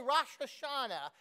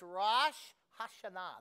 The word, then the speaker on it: Rosh Hashanah: Don't say Rosh Hashanah. It's Rosh Hashanah. That's how you say it.